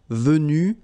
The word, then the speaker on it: venu: So basically, you get the pronunciation venu, venu, venu, and then the same thing, venu, you don't pronounce this final E. Venu, you don't pronounce the final S. Venu, you don't pronounce the final S either. Same thing here, venu. And same thing here, venu, you don't pronounce S. So phonetically, you only have